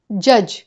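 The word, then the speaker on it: judge: The right pronunciation is जज।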